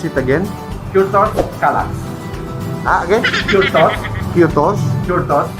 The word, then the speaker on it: Kürtös Kalács: So Andre, how do you pronounce it again? Kürtös Kalács. Again? Kürtös. Kürtos? Kürtös Kalács.